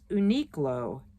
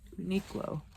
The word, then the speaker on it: Uniqlo: pair oh no not a pair this is Uniqlo Uniqlo okay niklow and it's spelled u-n-i -q-l-o there's no U after the